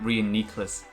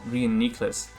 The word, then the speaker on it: Reuniclus: that are mispronounced and apparently reuniclus is actually pronounced reunicus okay we get the call right we didn't psychic and we take out this gravity it's actually pronounced reunicus and apparently version is pronounced verizon like bro